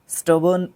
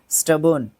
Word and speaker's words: stubborn: और स्टबर्न, ये अच्छा वर्ड है, स्टबर्न, ठीक है, स्टबर्न इसको प्रोनाउंस करते हैं, स्टबर्न, STUBBORN, स्टबर्न, स्टबर्न, ठीक है।